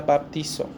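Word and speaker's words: βαπτίζω: bautizar en español es una palabra que se pronuncia baptizo. Generalmente, esta palabra griega significa sumergir, hundir, ir hacia abajo. La palabra griega es baptizo.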